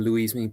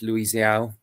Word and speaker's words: Luis Yao: And also another player that I called out last time, even though I did get his name wrong, I called him Luismi, but it's Luis Yao.